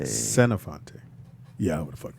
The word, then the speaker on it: Senofonte: spell that. Mm-hmm. SENOFONTE. I'm sorry. How you say it? Senofante. Senofante.